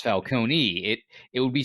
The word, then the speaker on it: Falcone: the end where it's Falcone it it would be spelled with an i if it was Falcone not an e an e Sicilian would be silent Ah that's the reason